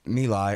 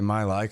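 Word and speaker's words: My Lai: little bit there about me lie I always say my life cuz that's how it's spelled but I know it's not it's me like um but then so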